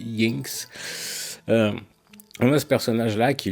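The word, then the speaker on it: Jynx: Je sais pas si l'autrice aurait voulu qu'on prononce Jinx, ça s'écrit J-Y-N-X. Mais moi, je sais que dans les langues nordiques, le J se prononce ye. Donc, je dis Jinx.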